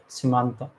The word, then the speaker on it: Simantha: It's actually Simantha, but a lot of people are calling me Simantha, Samantha. That's why I removed the A from it. So it's actually pronounced as Simantha.